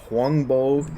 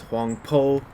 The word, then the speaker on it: Huangbo: recorded sayings of a zen master named either huangbo they choose to transliterate it as huangbo jiun in this version it's in the past been translated as huang po you know these things are kind of complicated